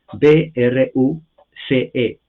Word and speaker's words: Bruce: f f Bruce e b r u c e la e no se pronuncia en inglés la c es s se pronuncia Bruce ff Bruce muy reconocido